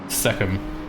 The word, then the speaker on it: Seckham: Seckham. Yes. Like Beckham with an S.